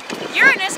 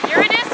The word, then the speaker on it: Uranus: the earth itself Uranus can be pronounced two ways Uranus or Uranus wait that's Neptune